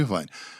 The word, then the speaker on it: Irvine: Aí o Ed Irvine, não, o Ed Irvine, não, o Ed Irvine. Essas 3 pronúncias ele falou. E depois foi se descobrir que o certo era o Irvine.